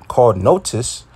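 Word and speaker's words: NOTUS: And it says a nonprofit media outlet called Notice. Okay, it's spelled N-O-T-U-S, called Notice, obtained a draft copy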